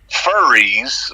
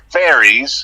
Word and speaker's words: furries: And then you describe them as furries, which would be how we would pronounce it here. It's not that they're fairies. No. It's that they're furries.